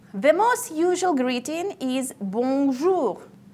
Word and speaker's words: bonjour: The most usual greeting is bonjour. Try to pronounce it correctly. The sound should go through your nose.